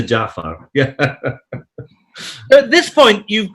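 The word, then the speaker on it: Ja'far: guy as well as mispronouncing him as Jeff Hager yes jiff Jafar as opposed to Jaffa yeah at this point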